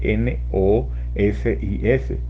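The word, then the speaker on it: gnosis: cetistore y secretos de allí nosis que se escribe de esta manera g n o s y s i s repito g n o s i s nosis Entonces ellos decían que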